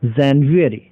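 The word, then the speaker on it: January: फिर ये पूरा मंथ बनता है जनवरी, जनवरी, जनवरी, जनवरी, जनवरी, जनवरी, जनवरी, जनवरी, जनवरी।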